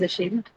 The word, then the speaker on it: ashamed: But then in ashamed again the first syllable is what? It's awah. It's an unstressed uh that syllable is occupied by the unstressed vowel soundwah sh. So obviously you cannot mark the stress of that.